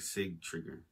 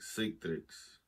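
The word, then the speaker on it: Sigtryggr: it's similar to citric it looks like Sig trigger whoa it is like sick tricks Citrix damn okay so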